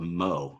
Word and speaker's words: mho: of resistance which is conductance I believe that's pronounced Seamans um which is called Mo so if you notice MO is just the